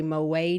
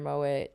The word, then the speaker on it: Moët: Hennessy it's Moet Hennessy lots of us like to pretend that that's pronounced differently but it is actually Moet and we say moay no way no way